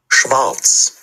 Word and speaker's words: Schwarz: ঠিক আছে, ওটা হচ্ছে আপনি যেটা বলছেন ওটা ঠিক আছে, কিন্তু এটা সাধারণত আপনার যখন মানে বাক্যের ভিতরে, শব্দের ভিতরে হয়, তখন এটা এইভাবে করে উচ্চারণ করা যেতে পারে। কিন্তু এটা যদি শুরুতে হয় তখন হচ্ছে ওটা ভি এর মতো একটু উচ্চারণ হয়, যেটা আপনি বলছিলেন।